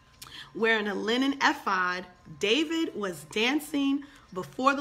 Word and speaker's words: ephod: linen ephod I think when mama Leslie told me last night the e is silent wearing a linen ephod David was dancing before